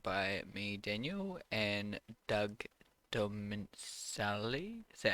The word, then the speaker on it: Dominicali: Today you're joined by me, Daniel, and Doug Dominicali. Is that how you say it? Yeah, almost there. Almost, yeah. Awesome. But yeah, you can check out your work at Doug Dominicali. Is that it? um, Dominicali. Dominicali.